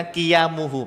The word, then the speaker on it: qiyamuhu: Tulisannya sih kijamuhu ya. itu bacanya qiyamuhu, Pak. Qiyamuhu binafsihi. Ya, jadi huruf J itu dibaca Y, ya.